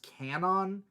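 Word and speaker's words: Kwannon: I believe it's pronounced Canon like the W silent that's what they say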